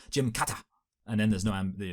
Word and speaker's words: Gymkata: Uh admittedly like you know obviously the solution here would be to pronounce it the way a Japanese person would which would be I believe a Jim Kata and then there's no